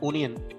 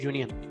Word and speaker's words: union: is starting with u we are not saying onion we are saying union so the phonetic sound